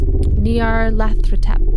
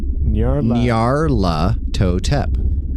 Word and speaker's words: Nyarlathotep: There's an L in there you're not even pronouncing. You're good. Nyarlathotep.